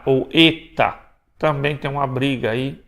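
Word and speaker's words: ἦτα: não é H tá ele tem som de E então Eta ou Eta também tem uma briga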